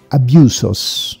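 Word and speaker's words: ἄβυσσος: questo è molto importante nel termine greco nell originale si dice abiuso cioè abisso abiuso chiuso perché la ypsilon si pronuncia poi un po comunque abiuso e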